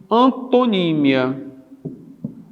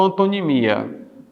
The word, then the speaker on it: antonímia: Mas você estuda a denotação e a conotação, e você estuda, nesse aspecto aqui, a relação de antonímia. Antonímia ou antonimia, certo?